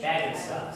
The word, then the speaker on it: Bagenstos: Is Bagenstos the correct pronunciation? Bagenstos. Bagenstos? Yes, but whatever, call me I'm whatever.